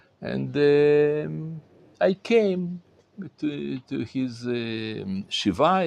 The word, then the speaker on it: shiva: And I came to his shiva.